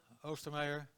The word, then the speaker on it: Oostermeyer: O2 and oidc um my name is OST Mayer that's how you pronounced actually um for those of you who